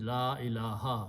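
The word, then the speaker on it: لا إله: And if la comes before that, we read the kalama all the time, la changes these two pesh into one zabar, and pronunciation is la ilaha.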